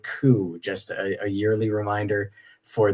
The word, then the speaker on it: coup: reminder about that also there is no P sound at the end of the word coup just a yearly reminder